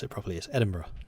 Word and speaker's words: Edinburgh: and a guess cambridge marvelous let's go to Edinburgh yes I know it is not a drug it's just my German friends always pronounced as edinburg which I thought was hilarious